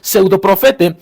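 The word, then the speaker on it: ψευδοπροφήτης: En griego se pronuncia algo así como pseudoprofete, y que tiene que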